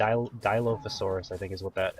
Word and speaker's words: Dilophosaurus: now that um that this is pronounced I think D I think is correct Dilophosaurus is the actual name of the dinosaur I'm really bad with